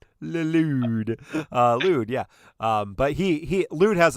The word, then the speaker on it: Lude: In addition to that, people are asking about Lude. That's how you pronounce it.